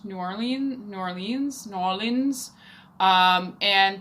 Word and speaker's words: New Orleans: bar called no liens which is like spelt so that you understand how to pronounce New Orleans New Orleans New Orleans